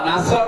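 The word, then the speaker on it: نصر: নুন সাদ রা, নাসর মানে সাহায্য, আর নুন সিন রা, নাসর মানে ইগল পাখি।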